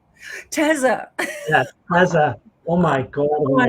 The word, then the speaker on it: Teza: So yes, Teza. Yeah, Teza.